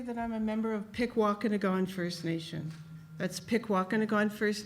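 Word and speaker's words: Pikwàkanagàn: A lot of people struggle with pronouncing that, Pikwakanagan.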